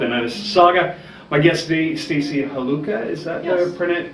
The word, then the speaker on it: Stacey Haluka: My guest today, Stacey Haluka. Is that the pronunciation?